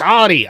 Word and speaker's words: Audi: It's Audi.